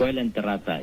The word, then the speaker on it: Coelenterata: Yang betul bacanya ini Soelenterata atau Coelenterata? Coelenterata, ya. Coelenterata.